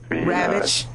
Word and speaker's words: Ravitch: The author is Diane, I can't pronounce her last name correct, but it's R-A-V-I. Ravitch.